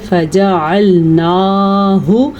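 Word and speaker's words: فجعلناه: بھی غلط ہو گیا۔ اس کی مقدار چھوٹی ہوتی ہے، اس لیے اس کو ہم پڑھیں گے فجعلناہ، البتہ نون کے اوپر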